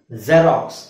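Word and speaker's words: Xerox: ಪದ ಜೆರಾಕ್ಸ್ ಜೆರಾಕ್ಸ್ ಅಲ್ವಾ ಜೆರಾಕ್ಸ್ ಅದನ್ನ ನಾವು z ೆಡ್ ಉಚ್ಚಾರಣೆ ಉಚ್ಚಾರಣೆ zೆಡ್ ಅಂತ ಹೇಳಬೇಕು ಬರಿಬೇಕಾದ್ರೆ ಅಂದ್ರೆ ಆ x ಅಂತಾನೆ ಬರೀಬೇಕು ಪದದ ಸ್ಟಾರ್ಟಿಂಗ್ ಅಲ್ಲಿ ಬಂದ್ರೆ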